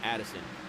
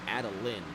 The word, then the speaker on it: Adeline: It's not Addison. It's Adeline. Excuse me.